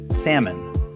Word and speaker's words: salmon: Which fish has a silent L in its name? Salmon. Salmon. And the trickiest one, which 2-syllable grain word do most people badly mispronounce as quinoa?